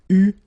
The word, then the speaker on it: eu: Okay, but you will have to pronounce it u.